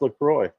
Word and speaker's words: LaCroix: It is pronounced LaCroix.